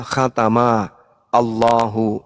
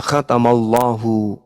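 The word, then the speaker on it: خَتَمَ ٱللَّهُ: Ini kalau dipisah, cara bacanya adalah khatama Allahu. Itu kalau dipenggal. Tapi kaidah membacanya disebut kemudian makhraj dan nakhus Arabnya, cara membacanya khatamallahu.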